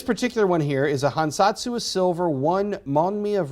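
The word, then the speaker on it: 藩札: took from the internet this is called a hansatsu um according to my japanese friends i am pronouncing that relatively close to accurately so it's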